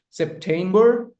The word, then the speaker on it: September: September four months. October, November, December. The stress lies on the second syllable.